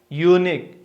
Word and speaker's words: unique: Because it is beginning with long U sound. Look at here. Example, a unique place.